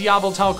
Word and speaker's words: Yveltal: And yes, I did pronounce Yveltal correctly, thank you for noticing.